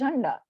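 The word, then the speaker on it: झण्डा: This is not. This is Jhanda. It's pronounced as that only.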